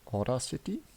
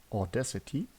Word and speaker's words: Audacity: I called it Order City, but I think that's actually a software. The correct way should be Audacity, and I have no clue what it means.